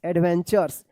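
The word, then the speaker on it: adventures: आर ई एस एडवेंचर्स देखिए यहां पे टी के बाद यू है और लास्ट में आर ई है तो क्या है कि इस टी यू का च उच्चारण होता है। क्या होता है? च एडवेंचर्स एंड लाइफ लेसंस।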